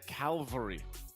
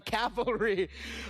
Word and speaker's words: cavalry: just was surprised because I've always said Calvary instead of calvalry oh so you mixed up the L and the I mixed it up but that's the